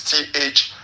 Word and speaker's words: Thiam: I think like it's spelled Tidgjane, and then Theam is THIAM. Thiam, Tijan Thiam.